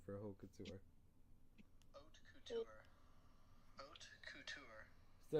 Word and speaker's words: haute couture: So the H you wouldn't pronounce. So it's haute couture.